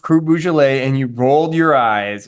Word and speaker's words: Beaujolais: Cru Beaujolais. What is it? Beaujolais. Sounds like you're saying the Halloween version of the the region. Beaujolais. It's Beaujolais. Beaujolais. Yeah, there you go. How about it's however I pronounce?